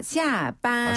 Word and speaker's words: 下班: 下班. 쉽네요. 下班. 굉장히 쉽죠. 네. 그러니까 출근은 上班. 네. 퇴근은 上班. 그리고 퇴근은 下班. 네. 샹과 시아입니다. 그렇죠. 샹과 시아인데요. 이때 샹은 윗상자, 시아는 아래 하자 발음이에요.